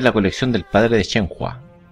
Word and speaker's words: Shenhua: Debería ver la colección del padre de Shenhua. O de Shenfa, como parece que se pronuncia en chino.